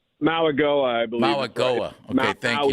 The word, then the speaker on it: Mauigoa: going to do, and help me with the pronunciation. Francis Mauigoa, is that correct? Mauigoa, I believe.